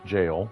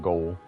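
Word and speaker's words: Gaol: Jail, not goal. It's jail. It's English spelling, right? like old English and you might be familiar with it from Elden Ring, right?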